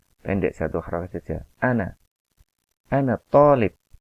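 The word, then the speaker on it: طالب: jatuh orang saja anak-anak Tholib kalau ini tonic coc-nya harus dua roket Jangan sampai salah membaca yang dua harokat lamia polip yang betul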